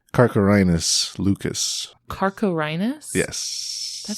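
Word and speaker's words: Carcharhinus leucas: And I included the pronunciation Carcharinus lucus.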